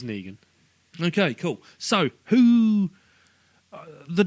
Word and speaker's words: Negan: It's Negan. Negan. What do you think it is? You could pronounce it differently to no, everyone else?